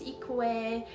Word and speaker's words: Ikue: um my name is ikue I always say this in the beginning of the class my name sounds like eco-friendly but spell it like ikue and equate answer I